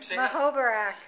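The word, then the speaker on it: Muhoberac: Mahoberak.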